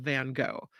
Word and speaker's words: Van Gogh: Meno Park says it's in the style of Van Gogh perhaps maybe not van go but in the